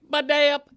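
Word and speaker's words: Badayup: And I'm spelling it phonetically. Baday-up, B-A-D-A-Y-U-P, with the emphasis on the middle syllable.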